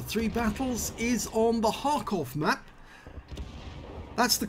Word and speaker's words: Kharkov: battles is on the hakov map that's the correct way you pronounce it you don't pronounce the k park off okay